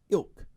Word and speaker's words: ilk: He's not of elf ilk. Ethnicity? It's like elk, but it's pronounced ilk.